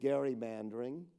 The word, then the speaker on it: gerrymandering: He would be appalled at gerrymandering, and he would pronounce it correctly like I did, because Albert